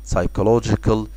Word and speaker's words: psychological: لو جيت تلاحظ في كلمة نفسي كده اللي هي psychological، هتلاقي ان البي دايما بتتكتب ودايما silent. خلاص، دي اول ملاحظة. والملاحظة التانية في كلمة psychological اللي هي السي اتش تنطق كي، يبقى psychological.